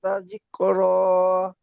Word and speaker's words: تذكرة: تذكرة كلا إنها تذكرة তাজ, এখানে জালটি জিমের মতো উচ্চারণ হয়ে যাচ্ছে হালকা ভাবে। তাযকির, তাজ, জিহ্বার আগাটি সামনে দাঁতে تذكرة ঠেকান।